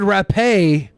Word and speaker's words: rapé: The word rapé, commonly pronounced like grape, will not show up in the donos.